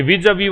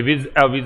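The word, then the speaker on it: vis-à-vis: तीसरी बात, ये विज अवी वाला ध्यान रखना, इसका प्रोनाउंसिएशन जो है ये विज अवी है। ठीक है, विज अवी, ये विज अविज नहीं पढ़ते, इसको प्रेपोजिशन कहा जाता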